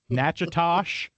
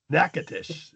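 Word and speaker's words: Natchitoches: It's more like Nachosh. Nope. Nacatish. Nack Nacatish. Nacatish is what they say.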